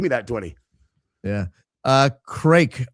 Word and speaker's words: craic: Uh craic, Irish pronounced crack, means great time.